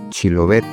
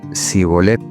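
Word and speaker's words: Shibboleth: Si él respondía no, entonces le decían: ahora pues, di Chilobet. Y él decía Sibolet, porque no podía pronunciarlo correctamente.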